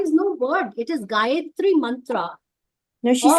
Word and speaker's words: Gayatri: And I have a request to you all because, because of our pronunciation, Mother Gayatri, I didn't say Jia, it was Mother Gayatri.